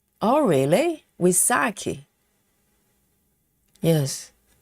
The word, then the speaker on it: Wysocki: Dragon lady says Charles Woki's last name which is Polish is called Wisaki. Oh, really? Wasaki.